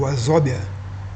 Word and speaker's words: Wazobia: Não é bia como se fala no termo português, né? É o Wazobia.